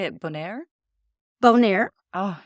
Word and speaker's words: Bonaire: Bonaire.